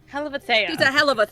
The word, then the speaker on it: Helavathea: Helavathea. Helavathea. She's a hell of a Thea.